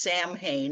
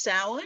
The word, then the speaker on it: Samhain: you see that spelled out, you'll think it's pronounced Samhain. And there have been a lot of characters in horror movies and novels named Samhain, but it's pronounced Samhain.